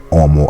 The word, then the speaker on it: homo: At semper dico homo habet, but I always say homo habet. And he right too, because the H is a silent letter.